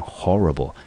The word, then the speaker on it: horrible: 那 horrible 这个字，好，中音节一样的落在第一个音节，它是一个形容词，念成 horrible，令人害怕的。好，那我们看，先来看例句好了。Lisa didn't want to open the door because she'd heard a horrible sound behind it.